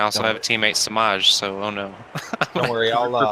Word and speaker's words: Semaj: How do you pronounce his name? Samaj. Samaj.